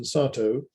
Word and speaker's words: Satow: A word on this pronunciation, Satow. I make a point of that because the Japanese call him Sato and then get confused as to whether he was British or Japanese.